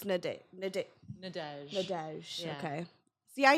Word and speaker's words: Nadège: Okay, so it's Nadège.